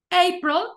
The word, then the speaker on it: April: March april May june como april también va en la primera sílaba chicos May solamente esta